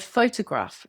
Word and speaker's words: photograph: Take the word photograph. The stress is on the first syllable, pho-to-graph. If you move the stress, the word sounds wrong to a native speaker or can mean something different.